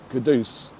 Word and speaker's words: Kudus: Mohammed Kudus performs very well, you think the fans will compose a song for him? Yeah. I definitely think they should know that his name is Kudus.